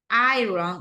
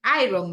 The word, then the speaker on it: iron: floor do the ironing iron like Iron Man right like Robert dowy you so it's iron but we have ing do the ironing do